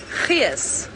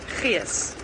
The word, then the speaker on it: gees: Here's a good South African word: gees. Gees. G-E-E-S is how you spell it, and gees is just like spirit, the vibe, but good, positive.